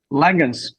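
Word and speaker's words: Langhans: Is it Langens? Is that how you pronounce his last name? Langens. Yep, correct. Langens.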